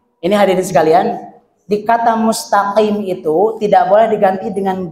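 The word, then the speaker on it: الْمُسْتَقِيمَ: Kemudian yang ketiga, mentafhimkan ta dalam kalimat al-mustaqim. Jadi dibacanya, jadi ada sedikit ya perbedaan, misal ihdinas siratal mustaqim. Jadi tokim. Jadi itu nama paling pasih gitu ya. Jadi mustaqim dibaca mustaqim. Jadi ta ditafhimkan, padahal dibacanya mustaqim. Ta biasa ta.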